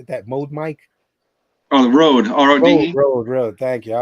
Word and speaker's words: Rode: It's like the I want to say Yoda, the Vode, I always get the name wrong. Vode or Mode, whatever that Mode mic. Oh, the Rode, RODE.